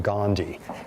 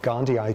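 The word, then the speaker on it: gondii: toxopplasma Gandhi and tox not Gandhi in the Gandhian sense, but probably because it's even pronounced differently. Okay, how are you pronouncing it these days? Gandhi. Gandhi. Gandhi eye because there's two eyes at the end which the old Mahatma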